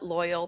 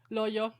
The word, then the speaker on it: Loyo: Uh Loyal P Loy Loya Loyo Loyo Loyo Loyo. And I that's fun to say actually. Yeah, it's like yo-yo. It rhymes with yo-yo.